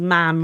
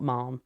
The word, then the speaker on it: ma'am: And to teach us that it was ma'am rhyme with ham, not mom.